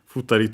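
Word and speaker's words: 二人: The accent is on the ri.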